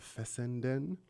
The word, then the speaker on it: Fessenden: reginald r um aubry fessenden it's an interesting laugh yes and then it sounds it's spelt exactly how it sounds fessenden but he